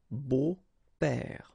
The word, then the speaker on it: beaux: But then it's exactly the same thing because you don't pronounce it. Des beaux pères, okay?